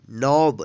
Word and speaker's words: knob: तो आप जो हमेशा ध्यान रखिएगा, जब भी किसी वर्ड में एन से पहले के आता है तो के का उच्चारण नहीं होगा, यहाँ पे के साइलेंट रहेगा।